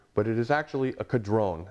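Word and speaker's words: Caudron: Now Frank will call this a Quadrron uh throughout this entire interview, but it is actually a Kadron. That's how the French pronounce this.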